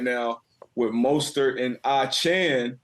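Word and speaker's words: Achane: now with moster and a Chan not I chain um got that update a couple days ago to say his name correctly uh but you know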